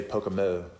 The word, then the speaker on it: Pocomo: Well, the locals say Pocomo.